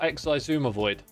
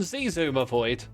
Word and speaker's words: Xisumavoid: quite in tweak it is is pronounced shwam bam AKA shashwami or XI Zuma void or if you're German Z Zuma void I mean basically there's no proper way to say it okay that's what we're